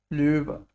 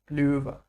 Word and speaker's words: Löwe: Yes, how do we pronounce this? Löwe. Ö. Löwe. Perfect.